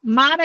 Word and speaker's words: MARA: Então, MARA é como se fala mesmo, M-A-R-A, MARA.